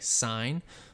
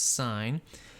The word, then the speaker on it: sin: function which has an abbreviation of s i n but is still said or pronounced the same way sine so it's not sin it's sine the cosine function and